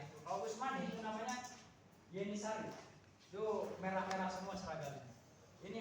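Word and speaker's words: Yeniçeri: Tulisannya seperti ini. Tulisannya pakai Jenisari. Tapi dibacanya Yenisari.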